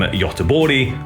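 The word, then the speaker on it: Göteborg: Swedish death metal group from yabori or gothamberg if you want the English pronunciation formed in 1990 they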